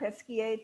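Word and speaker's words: Pesquié: is wine number two the chateau did i pronounce it correctly peskier terrace rose absolutely madeline thank you very much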